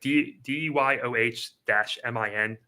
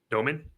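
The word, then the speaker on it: Dëmin: I believe it's Jaeger Yomin, like DYOH-MIN Yomin. So Igor, I got that part right, but it's not Igor. Demine. I thought it was Jaeger Demon. Apparently, it's Jaeger Yomin. Domin is the pronunciation from himself, what he said in a post-game interview.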